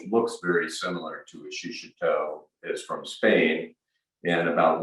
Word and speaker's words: shishito: a pepper like a shishito which i've learned to pronounce properly i used to say shishito but it's shishito japanese pepper which is often